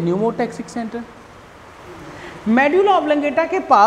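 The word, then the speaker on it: pneumotaxic: P silent है, यहाँ से पढ़ते हैं न्यूमोटैक्सिक सेंटर।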